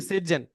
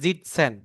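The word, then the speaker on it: sitzen: আরেকটা যেটা ওয়ার্ড শিখছিলাম সেটা হচ্ছে সিটজেন। সরি। সিটজেন হবে না, এটা মেবি উচ্চারণটা অ্যাসের উচ্চারণ অ্যাস হবে না, যে জিটসেন, জিটসেন, জয়ের আরেকবার মতো বলেন উচ্চারণ।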